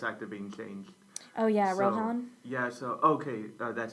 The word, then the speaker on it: Rohan: hilarious my friend was very mad at about Ronan his voice actor being changed oh yeah Rohan yeah okay that's how you say it sorry